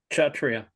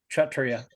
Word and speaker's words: Kshatriya: Kshatriya. Kshatriya. Kshat. Therefore, pronounced Kshat, S-C-H, like Shat. Kshatriya.